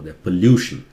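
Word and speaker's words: pollution: तो काफी लोग गलत प्रोनाउंस करते हैं, वो पोल्यूशन, ल्यू नहीं है, लू.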